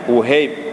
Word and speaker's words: Wuhaib: Nama asalnya Abdul Wahab, kemudian ditasghirkan dengan Uhaib. Kalau ada ia bacanya Uhaib Ibnul Wardi.